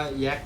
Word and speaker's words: Yak: ลำ นึง นี่ ตัว นี้ เป็น เครื่อง บิน ยักษ์ นะ ครับ บาง ท่าน จะ เรียก ว่า แย็ค นะ ครับ ออก เสียง ยักษ์ หรือ แย็ค ก็